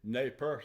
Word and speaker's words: Nez Perce: of Chief Joseph and the Nez Perce, if you pronounce it in the French, or Nez Perce Indians trying to get into Canada before the U.S.